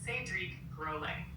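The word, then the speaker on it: Cédric Grolet: Correct pronunciation of Sedic Grle in French is Sedriek Grle.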